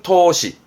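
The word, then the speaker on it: 闘志: 발음은 토시, 투지 넘치죠?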